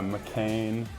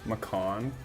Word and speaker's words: McCann: it mccan uh McCain Macon like the like the Porsche Macon okay people like oh